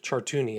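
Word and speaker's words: Chartouni: My name is Chartuni and I'm a victim of Jeffrey Epstein and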